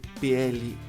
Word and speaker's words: pleasure: Igual a palavra prazer. P-L-E-A-S-U-R-E. É isso? Pleasure. My pleasure. Prazer é tudo meu. My pleasure. Measure.